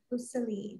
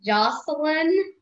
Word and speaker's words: Jocelyn: Let's see, Joseline, there you are. There you go. Hi. My name is pronounced Jocelyn. Okay, that was not my fault.